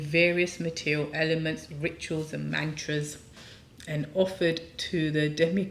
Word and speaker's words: mantra: say that word Mantra there's no youu it's not M it is short a is uh a short it looks like the same size a as all the others it's not a long a ah actually long a